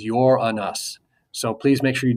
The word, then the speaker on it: Uranus: The way you actually pronounce this planet is Uranus.